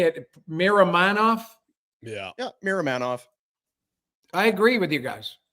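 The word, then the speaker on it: Miromanov: think ball is serviceable I look at that pronounce give me it Miram manov yeah yeah Miram manov I agree with you guys I think if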